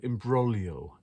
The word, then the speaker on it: imbroglio: big broth and imbroglio IM brolio I think it's the the the right word is that how you pronounce it with a silent G like my own name